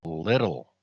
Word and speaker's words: Lytle: His real name is Donald Little, spelt with a Y, Lytle.